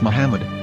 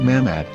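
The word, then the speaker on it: מחמד: prophet or as mahmad with no a after the h according to ben yehuda's hebrew english dictionary it is correctly pronounced as muhammad not mahmad so how we're going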